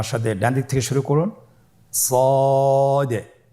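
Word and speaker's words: صاد: শুরুতে আমরা শুরু করছি সদ। সদ হরফটি পর হরফ। মোটা হরফ উচ্চারণ ক্ষেত্রে মোটা করে পড়তে হবে এবং উচ্চারণ করার সময় তিন আলিফ টেনে পড়তে হবে।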